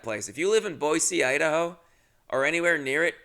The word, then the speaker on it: Boise: Boise is how they pronounce it.